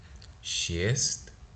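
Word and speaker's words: шесть: Again, we have another soft sign, shiest, right?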